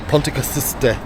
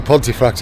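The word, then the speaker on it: Pontcysyllte: The lady in there was trying to tell us, she was Welsh, how to pronounce the Ponticasiste aqueduct. That I've been calling the Pontefract Aqueduct, so Ponticasiste.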